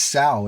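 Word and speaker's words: SoW: I'm going to tell you right now on this channel, it's Sao. It rhymes with WOW because uh you know they're both acronyms, right?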